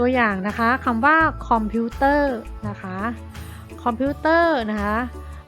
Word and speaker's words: คอมพิวเตอร์: กำกับ นะ คะ พนัง คำ ว่า คอมพิวเตอร์ นะ คะ เป็น รอ การันต์ นะ คะ อีก ตัว อย่าง